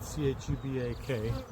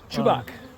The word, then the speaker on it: Chubak: His last name is spelled C-H-U-B-A-K. Chubak.